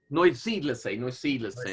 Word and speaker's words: Neusiedlersee: And then Nathan or someone else who can speak German might have to correct my pronunciation here. Neusiedlersee, or the Neusel Lake. Neusiedlersee. Neusiedlersee, there we go.